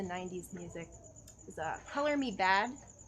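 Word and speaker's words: Badd: Also, like, my favorite discovery was, like, looking back into the 90s music was Color Me Bad. Not anybody? It's where the second D is silent.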